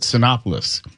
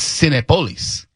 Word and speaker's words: Cinépolis: I called it Synopoulos. It's Senate Police.